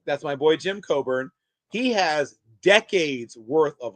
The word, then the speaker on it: Coburn: Jim Coburn.